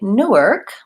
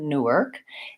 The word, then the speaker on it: Newark: an ass on there Newark and New York I tend to stress the second syllable or both syllables New York but mostly second syllable is more important so the new is the same York has an or vowel so same as this the word you're with okay New York versus